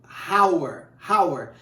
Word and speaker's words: hour: seríamos você de falarmos hours só que o h nesse caso é mudo então como a letra